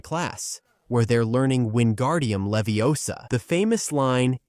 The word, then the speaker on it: Leviosa: where they're learning Windardium Leviosa. The famous line, "It's Leviosa, not Leviosa," doesn't happen in the books.